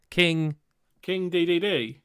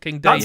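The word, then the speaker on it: King Dedede: King DDD. Okay, that is how you pronounce it. It's not King Day. Day. That's how they announced it on Smash Bros.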